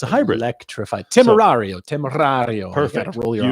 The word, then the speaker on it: Temerario: Temerario.